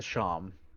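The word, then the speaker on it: shawm: The sham.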